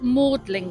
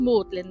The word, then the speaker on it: Magdalen: This is Magdalen College, but it's actually spelt Magdalen. Pronounced Magdalen though.